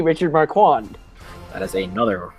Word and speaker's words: Richard Marquand: Is it A, George Lucas, B, Lawrence Kasdan, C, Richard McCord, or D, Ivan Kirchner? To mispronounced fix almost all of Hunters, it's George Lucas, Lawrence Kasdan, Richard Marquand, or D, Irvin Kirchner.